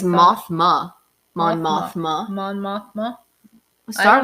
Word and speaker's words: Mothma: What is her name? I think it's Mothra. Mon Mothma? Mon Mothma. It's Mothma.